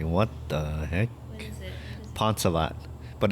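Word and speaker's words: Phonesavath: look at it they're like what the heck ponzalet but it's spelled p-h-o-n-e-s-a-v-a-t-h when people see it they're like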